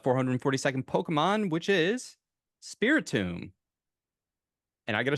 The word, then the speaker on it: Spiritomb: And I gotta say, I was already, not even as a joke, I was already saying it wrong in my head. what were you saying? Spiritomb. I say like Spirit Bomb.